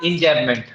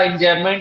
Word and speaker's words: enjambment: जो ये जब भी MENT आता है, इसका प्रोनाउंसिएशन होता है मंट, मेंट नहीं होता, हम लोग बोल देते हैं।